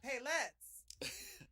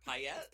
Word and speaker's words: paillettes: Paillettes? Paillettes. It's okay. French, and it's one of those things that doesn't make sense in the English language, and you just learn to say it right.